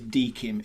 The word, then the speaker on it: DKIM: So the first acronym that I'm going to mention is Dkim. It's spelled DKIM, and it stands for Domain Keys Identified Mail.